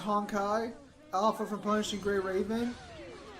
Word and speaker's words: Honkai: Zim, it's pronounced Honkai.